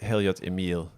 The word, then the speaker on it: Heliot Emil: of different ways and uh I mean with Hilliard's Emil is that how you pronounce it yes I didn't know if it